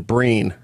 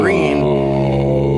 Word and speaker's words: Breen: Yes, from the articles I was reading on this, Ronald Reagan got the name wrong. The moderator is John Breen. Oh. And he said Mr. Green.